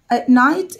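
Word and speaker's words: knight: نايت الكي سايلنت بتتنطق نفس النطق بتاع نايت اللي هو الليل، فارس طبعا معروف ان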